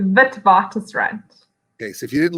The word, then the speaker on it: Witwatersrand: And you're finishing your honors degree in English literature at Witwatersrand.